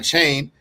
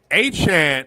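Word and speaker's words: Achane: Wait a minute, I'm calling you for help when I don't want Devon Chain, James Cook. First off, this is the thing. If you're gonna criticize, at least say his name correctly. Achan is a top 5 running back in this sport in fantasy.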